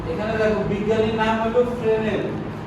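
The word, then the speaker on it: Fresnel: এখানে দেখো বিজ্ঞানীর নাম হলো ফ্রেনেল, আর স্পেলিং এ দেওয়া আছে এস। এই এসটা উচ্চারণ হবে না, না করা যাবে না।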